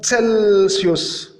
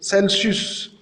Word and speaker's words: Celsius: On remarque, on a deux prononciations différentes de la lettre C. Une fois, il se prononçait K, comme dans le mot de cousine, cousine, cousine. Et une autre fois, il s'est prononcé C, comme dans le mot Celsius, Celsius, Celsius.